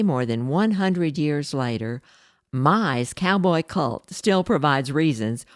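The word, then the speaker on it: May: one German author Carl Mai spelled m-a-y but pronounced my began writing exciting cowboy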